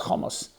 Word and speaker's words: chamas: V'tamoleh ha'aretz chamas. The world was filled with crime, with Hamas. Spilled like Hamas. Pronounced a bit differently.